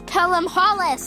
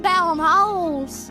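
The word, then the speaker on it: Pelham-Holles: Apparently we're supposed to pronounce Newcastle's name as Pelham Hollis, not Pelham Holes.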